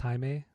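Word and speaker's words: Jaime: It's not Jamie, it's Haime.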